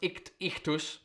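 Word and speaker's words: ichthys: The Greek letters for ichthus, meaning fish, pronounced ichthus, became an acronym.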